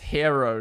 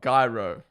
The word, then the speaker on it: gyro: It's pronounced hero, not gro. Hero. Guys, I want one hero, please. No way. It's hero.